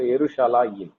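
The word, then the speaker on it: ירושלים: So Eru is 1 syllable. Sha is another syllable.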